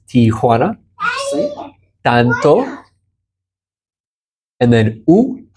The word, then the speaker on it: Tijuana: I always say T-O-1. It's not T-O-1. Correct. Tijuana.